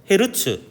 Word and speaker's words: 헤르츠: 대문자는 소문자 이렇게 쓰고 헤르츠라고 읽기도 합니다 후르츠 아니 그 헤르츠란 사람이 전자기파의 존재를